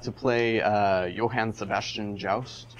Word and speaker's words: Joust: play uh johann sebastian joust or yaust because it's swedish and i don't pronounce the js that's um that was